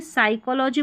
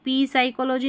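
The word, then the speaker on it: psychology: तो इसको देखिए साइकोलॉजी बोलेंगे, पी साइकोलॉजी नहीं बोलेंगे, इसको पी निमोनिया नहीं बोलेंगे, निमोनिया बोलेंगे, पी साइलेंट है। अब इसको पी सीडो नहीं बोलेंगे, इसको यहाँ पर सूडो करके पढ़ेंगे, ये उच्चारण है, ठीक है।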